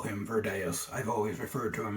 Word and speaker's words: Virdeus: But the actual pronunciation, if we were being accurate, would be Virdeus, because Latin has V's that sound like W's. But because of his strange name, you can call him Virdeus, Virdeus.